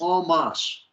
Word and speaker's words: en masse: By the way, just so you know, it's en masse. on En masse. on. En masse. Hi. What is the Not, first part? not, it's Ah, French. En okay. masse. En En masse.